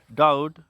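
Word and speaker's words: doubt: T date इसे पढ़ेंगे डी ओ यू बी टी डाउट इसे पढ़ेंगे एस यू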